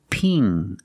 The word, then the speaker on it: ping: Pin. Use the short I sound like this is. It's more open. Pin. And ping. Use the long E sound plus the ng in the back of the mouth. Ping.